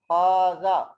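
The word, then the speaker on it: هذا: There is alif. We pronounce, but we don't write this one. We write like this. The writing of haza is like this, but the pronunciation is haza is like this.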